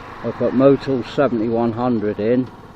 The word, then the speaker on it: Motul: At this time I decided to go with the more expensive oil, and I put Motul, I think that's pronounced Motul, I put Motul 7100 in.